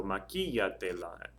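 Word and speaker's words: maquíllatela: So maquillatela, and then that accents over the I because it's 3 or more syllables back on the stress syllable.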